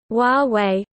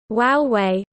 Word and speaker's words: Huawei: name recognition campaign instead to encourage a pronunciation closer to Huawei, using the words Huawei.